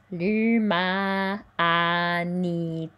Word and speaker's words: l'humanité: L'humanité. This is not nasal, it's a, ni, te.